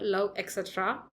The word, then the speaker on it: LOVETC: This is how you should pronounce this word, love etc. Okay, that's the brand name.